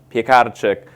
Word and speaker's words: Piekarczyk: Anyway, my last name is Piekarczyk, and an easy way to remember that is pies, cars, and chicks. And that's because I'm Polish, so it's technically pronounced Piekarczyk, but I won't hold you accountable for that.